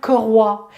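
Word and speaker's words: 葛花: Donc ça s'appelle koroi. Ça s'écrit G-E, plus loin H-U-A, koroi.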